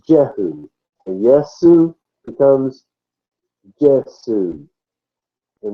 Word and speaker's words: Jehu: So when they wrote it and put Jehu, they were pronouncing at that time Yehu. And that's exactly how you pronounce his name, Yehu in Hebrew. So, but over time, then people forget that. The J morphs into the J sound, and he becomes Jehu.